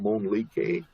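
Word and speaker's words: Mölnlycke: Jim pronounces it Monlique.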